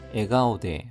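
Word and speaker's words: 笑顔: 미오 츠츠미, 에가오데 하면은 웃는 얼굴입니다. 에가오데, 웃는 얼굴로 카오가 가오로 발음이 바뀌었습니다.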